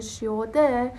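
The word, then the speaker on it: 시: با شود میان اصلا این سه که صدای اصلیش سه هست دیگه بالاخره این شیده همون سه تلفظ نمیشه بلکه ش تلفظش میکنیم حتی اگه دقت م کنید اسم شی اد رو که نوشتم اولش میگم شی اد یعنی سه به علاوه ای شده شده شی پس دقت کنید ما کلاً یا خلاصه حرف سه رو نداریم که به علاوه ای بشه و سی تلفظ بشه یعنی ح حتما شی تلفظ میشه حرف بی صدا بعدیمون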